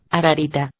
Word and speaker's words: Ararita: Esta palabra se pronuncia ararita.